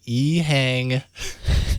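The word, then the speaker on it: EHang: it's that Chinese company uh just announced the eang that's how you say it 184 an all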